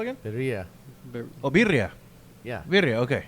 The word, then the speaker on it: birria: Birria. Oh, birria. Yeah. Birria. Okay. Yeah. I didn't roll my R's. I just didn't catch it. Well, it sounds different. Birria. You gotta roll your R's, man.